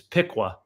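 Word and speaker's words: Piqua: Roger slack and uh he was telling me how to pronounce these cities like uh the the Pea is is Pika or um the uh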